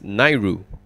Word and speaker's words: NAIRU: will call it an AI ru which is pronounced as NAIRU so you can use the term NAIRU to